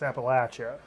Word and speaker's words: Appalachia: And some of these, I mean, you think Make poor, sure everybody understands how you pronounce that. it's Appalachia. Appalachia. Yeah. Yeah. Not Appalachia. No, Not Appalachia.